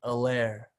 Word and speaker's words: Hilaire: Also, really not trying to call you out, but it's kind of bugging me a little because the H in his last name is silent. So, Fine, Hilaire.